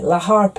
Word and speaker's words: La Harpe: you pronounce that Illinois its har pe la Harpe a la Harpe a please ha ha